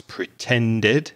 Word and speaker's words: pretended: And be careful of the past tense of pretend. It's pretended. So you need to add an extra syllable to that word as well.